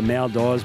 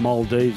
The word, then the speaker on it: Maldives: I'd go on a holiday to what I call the Maldives, but it's pronounced Maldives, as I've been told.